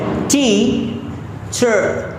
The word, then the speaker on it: teacher: यहाँ पर ध्यान रखना है, आर को हमें प्रोनाउंस नहीं करना है, आर को बोलना ही नहीं है। ठीक है, आर ऑटोमेटिकली जब आप इस लास्ट वाले लेटर पर आप प्रेशर करेंगे तो आर ऑटोमेटिकली प्रोनाउंस होगा।